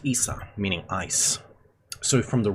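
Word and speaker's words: Isa: In these languages, the name is pronounced Issa, meaning ice.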